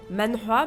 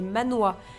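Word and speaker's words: manhwa: dire bande dessinée coréenne que j'appelle mana mais qui en réalité est Manoa le manhoa c'est la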